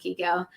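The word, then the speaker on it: Chicco: Yeah, it looks like Chico, pronounced Kiko.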